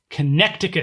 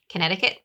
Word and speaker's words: Connecticut: afoot okay okay Connecticut Connecticut this is a food one your notice is spelled Connecticut Connecticut connect occur the C is silent apparently it's the word connect